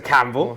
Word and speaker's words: Campbell: well hello mr campbell hello i'd have pronounced that correctly didn't i oh yeah you